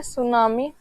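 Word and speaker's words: tsunami: होती है वो देखिए सिंपल सा है सुनामी सुनामी में टी साइलेंट है सुनामी जो है ये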